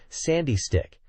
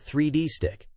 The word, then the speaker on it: 3D Stick: it's point out that the correct pronunciation is Sandy stick and not 3D stick with another character jokingly